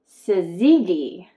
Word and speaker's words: syzygy: And a super moon is what we call in astronomy, perigee syzygy. Syzygy. I might have to spell that out for you.